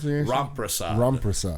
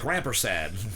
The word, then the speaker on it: Ramprasad: And without me even saying anything, Ramprasad. And I was saying like Rampersad last year. It's Ramprasad.